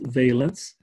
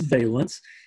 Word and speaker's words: valence: shell it is pronounced valence with a with a long a instead of balance balance is what people have over their windows this is valence and the valence shell